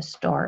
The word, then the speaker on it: Star: Also, der Star, without an R, right? Star, with a deep schwa.